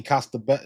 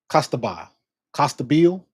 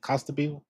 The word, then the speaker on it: Costabile: what's her name, Annie Costabello, is it Costabello? Costabile, Annie Costabile. I think that's how you can pronounce it, Costabile.